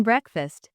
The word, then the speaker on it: breakfast: them word stress in breakfast the stress is on the first syllable b r e KF